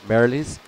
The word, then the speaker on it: Merrilees: Alistair has just helped me out here with my pronunciation of Scottish surnames for Kieran. Merrilees.